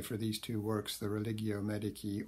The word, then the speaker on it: Religio Medici: He's best known, as I say, for these two works, the Religio Medici, or to give it its medieval pronunciation, the Religio Medici, and also his later work, Urn Burial.